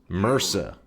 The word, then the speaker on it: MRSA: It's pronounced merca.